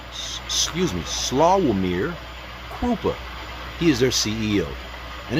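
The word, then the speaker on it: Sławomir Krupa: e operational headquarters areas served worldwide key people slum Excuse me. Slawir Krupa. He is their CEO and his name is spelled S L A W O M I R K R U P A.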